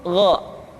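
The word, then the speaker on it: غ: Yang selanjutnya adalah huruf Gha. Diucapkan seperti kita mengucapkan huruf Kha, yaitu diucapkan dari pangkal tenggorokan kita. Yang membedakannya adalah Kha mengalir nafas dan Gha tidak mengalir nafas.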